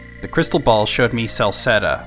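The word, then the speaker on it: Celceta: The crystal ball showed me Salsetta, which is not spelled right, but at least they... phonetically, they got it right. It's supposed to be with a C.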